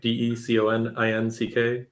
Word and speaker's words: Deconinck: Yeah, so I tweet periodically at, Deconic, Deconinck. The second N is silent to play with people.